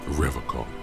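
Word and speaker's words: Revachol: for revical he pronounces rivercon with a hard k unlike other people you said revoked i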